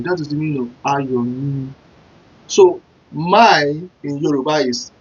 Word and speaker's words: Ayomi: So to pronounce my joy in Yoruba, it sounds this way. You pronounce it this way. Ayomi.